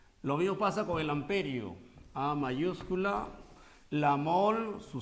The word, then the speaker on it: ampere: La intensidad de corriente en amperio. En amperio. Aunque el nombre correcto es ampere, ¿no? Del francés. Ampere. En castellano se dice amperio.